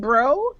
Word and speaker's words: Brough: And am I saying your name wrong? Is it Bro? you got it.